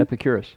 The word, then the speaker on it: Epicurus: Is that how you pronounce his name? Epicurus.